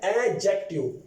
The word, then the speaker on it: adjective: इसको प्रोनाउंस किस तरह करना है, इस पर काफी रिसर्च करने के बाद मैं इस नतीजे पर पहुंचा हूं, इसको आप लोगों ने प्रोनाउंस इस तरह करना है एडजेक्टिव। एडजेक्टिव अक्सर लोग एडजेक्टिव भी कहते हैं, लेकिन ज्यादातर मैंने सुना है एडजेक्टिव। डी को आप लोगों ने नहीं पढ़ना, एडजेक्टिव।